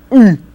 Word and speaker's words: ы: Then a ugly sounding but commonly used vowel u, like being hit on the stomach and go So u.